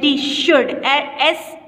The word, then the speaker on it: should: Ali, you, S-H-O-U-L-D, should. L is silent in this word.